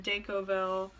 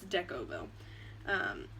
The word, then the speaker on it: Decovil: you put down the deck oval I always say it wrong it's deco bow you kind of lay